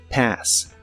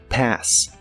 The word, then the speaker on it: pass: hablas de un examen la a se pronuncia como una combinación del sonido e y el sonido a pass pass y usaremos el verbo